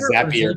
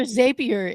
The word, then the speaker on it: Zapier: it is it not zappier but what's is it zappier like happier isn't what you always say Beth yeah I'm with you like how am I supposed to pronounce it but zappier zapier is like I mean